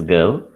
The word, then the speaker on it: go: Correctly, the correct pronunciation is I want to go. So it is go.